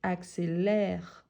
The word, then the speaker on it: accélère: Par rapport à la phrase 112, pourquoi on a inversé l'accent? Car à cause de la prononciation. Ici, c'est accélérer. Ici, c'est accélère. Donc, c'est ouvert.